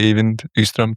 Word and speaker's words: Eivind Ystrøm: I would say Eivind Ystrøm too. So yeah, that sounds good to me. Eivind Ystrøm, professor of psychology at the University of Oslo, who works mainly on genetics of personality.